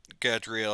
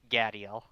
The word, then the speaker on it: Gadiel: You go and inform Gadriel, or how do you pronounce his name? Gadiel. Gadiel. I'm probably thinking of the angel, and that's why I say that.